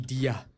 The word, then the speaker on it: Dia: That guy from yesterday, it's pronounced Dia.